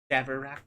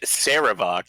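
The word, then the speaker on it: Sarevok: It's Savarak. It is Saravok, sir.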